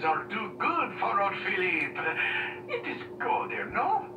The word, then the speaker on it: Philip: Some people pronounce it as Philly or Philippe or whatever they call it. I don't know. I just pronounce it as Philip.